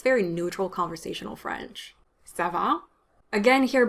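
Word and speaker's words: ça va: very neutral conversational french sava again here both a's are strong a sound so it's not sava it's sava and the second one is longer because it's stressed so so that can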